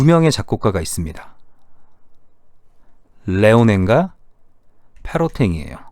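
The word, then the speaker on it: Léonin: 레오넨과 페로탱이에요. 둘 다 프랑스를 기반으로 하고 있기 때문에 페로탱이라고 읽으시면 되고요. 레오낭 이렇게 읽으시면 됩니다.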